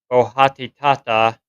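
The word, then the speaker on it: Boitatá: The Botaata Portuguese pronunciation bohatitata is a Brazilian equivalent of the wanderlight.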